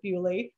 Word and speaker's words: Beaulieu: My British friend corrected me and said that this is how they pronounce it there. They pronounce it Beaulieu.